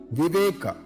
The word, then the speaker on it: Viveka: It is pronounced as sadhaka. Viveka.